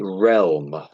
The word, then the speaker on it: realm: So So it's real with an M on the end of it. So it's actually realm.